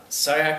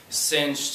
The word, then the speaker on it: Ciach: is sayak uh sayak is the correct pronunciation i i've gotten everything from cinch to clark sinatch pardon me but i've